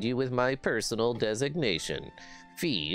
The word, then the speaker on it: Fi: with my personal designation fee is the name i was given it rhymes with pie i was created for